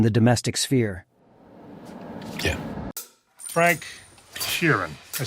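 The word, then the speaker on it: Sheeran: so than in the domestic sphere yeah Frank Kieran are saying that right yeah you said it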